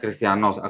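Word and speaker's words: Χριστιανός: apa strong numbernya 5546 ya nih 5546 christianos bacanya christianos Christian ya bacanya christianos tulisan yunaninya perhati nih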